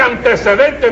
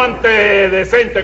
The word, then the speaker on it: antecedente: lo divulgo lo divulgo que se dice antecedente no ant decente como dice usted Ah bueno Y eso